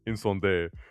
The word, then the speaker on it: Incendies: So for our last film, we got Incendies, or as Roger Deakins says, Incendies. But I am not pronouncing it like that.